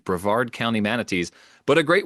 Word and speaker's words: Brevard: So, I don't feel bad correcting him on Breard County, not Breverard County. Brevard County manatees, but a great one.